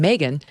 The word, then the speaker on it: Megyn: can text my name megan to 65532 now that's spelled m-e-g-y-n my mom said it was like ob-gyn m-e-g-y-n text m-e-g-y-n to